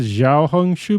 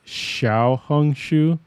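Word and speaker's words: Xiaohongshu: uh Xiao hung Shu I've been saying it wrong I said Xiao hung Shu before it's Xiao hung Shu mhm um so uh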